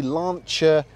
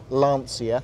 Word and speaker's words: Lancia: Is the Lancia Integrale, the Delta Integrale.